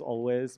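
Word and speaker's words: Alvvays: well continuing with the theme the Canadian band always otherwise pronounced as always but I thought I'd add a little cheek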